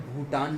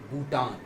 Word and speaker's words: Bhutan: इसका सही प्रोनाउंसिएशन क्या होगा? भूटान, भूटान। इसको हमें भूटान नहीं पढ़ना है, इसको हमें पढ़ना है, हमेशा बोलना है भूटान।